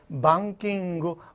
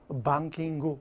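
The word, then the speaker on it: バンキング: 때 뱅킹 할 때 일본 애들 어떻게 발음하는 줄 알아 가다 한으로 써야 되는데 방킹 방 타음 이니까 앞에 업으로 시작하 킹구 이렇게 통하는 거야 그렇게 소통해 여러분들 일본에 가서 잘난 채가지고 뱅킹 킹 못 알아들어 방킹 이렇게 해줘야 돼 눈높이를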